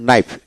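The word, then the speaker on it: knife: কে উচ্চারিত মানে নি উচ্চারিত হবে এইভাবে যেমন নাইফ কে এন আই এফই নাইফ মানে এন আই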